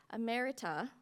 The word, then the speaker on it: emerita: Ammerita.